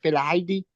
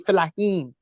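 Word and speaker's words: Fellahin: I at first I couldn't pronounce it. I said Filaidi. It's actually Filahin.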